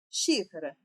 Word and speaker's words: xícara: Xícara. Xícara. O xi eu falei por mais tempo, então é a minha sílaba tônica.